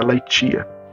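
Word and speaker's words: ἀλήθεια: grega para a verdade que é a laitia. A laitia, né? Mas se você for escrever, vai ser a L, e t e a, né? Você vai escrever aia, né? Se pronuncia laitia.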